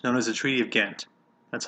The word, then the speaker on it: Ghent: We negotiated a treaty with the British known as the Treaty of Ghent. That's how you pronounce that.